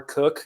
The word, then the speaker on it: Kuch: And so, but yeah, my name is Kuch, or Cook is the correct pronunciation.